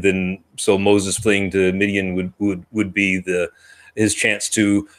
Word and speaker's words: Midian: And then he goes straight to how do you pronounce it? Midian.